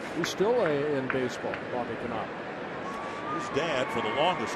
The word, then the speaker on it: Knoop: Now, did you follow him closely enough where you would have pronounced Bobby Knopp's name correctly? Or would you have said Bobby Knoop? No, Knopp. You would have said Knopp.